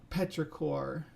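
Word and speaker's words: petrichor: you can take a look at this video Petra cor yeah did I say it right the first time I see you put it in there uh Mark Smith uh the word is Petra cor thanks Doctor Who yeah that's I think that's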